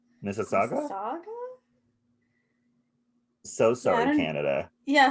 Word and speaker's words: Mississauga: mississauga it's like mississippi it's like mississippi it's like m-i-s-s-i-s-s and then it's a-u-g-a all right mrs so mississauga mississauga saga so sorry canada